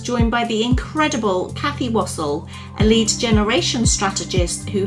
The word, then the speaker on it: Wassell: Yes, it's Wassell, like waffle, but with S.